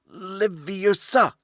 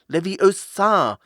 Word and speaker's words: Leviosa: "Wingardium Leviosa!" he shouted, waving his long arms like a windmill. "You're saying it wrong," Harry heard Hermione snap. "It's Wingardium Leviosa, making the ga nice and long."